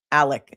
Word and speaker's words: Alec: Alec. Well, it's spelled Alex. He calls himself Alec.